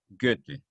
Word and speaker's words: Goethe: es un sonido ambiguo que nosotros no tenemos goethe o que de ese autor alemán habíamos mencionado